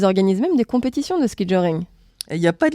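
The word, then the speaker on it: ski-joring: Le ski joring, ou ski jor. Ça s'écrit S-K-I-J-O-R.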